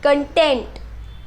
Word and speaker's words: content: The next example that I have for you is content versus content. This one is pronounced as content, content. The focus is on the later part, tent.